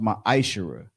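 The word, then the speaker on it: מעשר: and malachi 3 8-10 means 10th in hebrew and is pronounced my ishera ten percent of every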